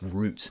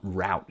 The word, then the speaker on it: route: And yes, in the King's English, it's pronounced root, not route, you heathens.